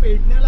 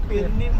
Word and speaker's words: पेडणे: इथूनच सुरुवात करतो की पेडण्याला आपण पेडणे बोलतो पण तुम्ही जर गुगल मध्ये तुम्ही काही सर्विस चेक करायला गेला पेरनेम बोलतात पेरनेम ठीक आहे त्याची स्पेलिंग पेरनेम होते परंतु त्याचा उच्चार मराठी उच्चार पेरनेम आता असं का झालं